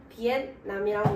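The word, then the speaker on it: Vietnam: 네, 먼저 베트남은 영어로 비엔남이라고 읽고요.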